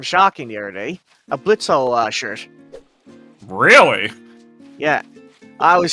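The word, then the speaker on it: Blitzø: Blitzo, Legotron. Oh, Or, it's, if you okay. prefer Blitz, the O is silent.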